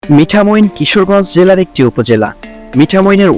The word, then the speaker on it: মিঠামইন: এটি একটি প্রাচীন জনপদ মিঠামুইন কে অন্যান্য নামেও ডাকা হয় তার মধ্যে মিঠামোন মিঠামীন বা মিঠামন বলে উচ্চারণ করা হয়ে থাকে নামের উৎস নিয়ে যে